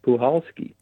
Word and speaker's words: Puchalski: I had to find out how to properly pronounce Puhalski because I was pronouncing it Puchalski and Puchalski, but it's Puchalski. The C is silent.